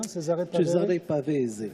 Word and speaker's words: Cesare Pavese: Tu as eu aussi un prix qui s'appelle Cesare Pavese, je le prononce bien? Cesare Pavese.